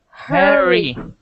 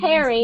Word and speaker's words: hurry: Her, not hair, because if you say hairy, this means hair everywhere. The top of the head, yes. We don't Harry, want hairy. Moving We want fast. Moving fast, Harry. Hurry, not hairy, because you are saying hairy. We want hurry.